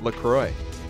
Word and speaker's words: LaCroix: Lucroy officially tweeted out the proper way to pronounce Lacroix what do they say it's Lacroix yeah don't you feel